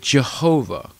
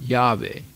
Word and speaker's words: Yahweh: have the word Jehovah Jehovah is a mispronunciation of the year word Yahweh which is in Hebrew it refers to God but they mispronounced it and it becomes Jehovah there's no Jehovah in the in the in the Hebrew language right so there are